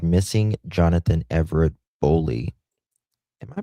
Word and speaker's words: Boley: Yep. Okay, we're pronouncing it right. Bowley.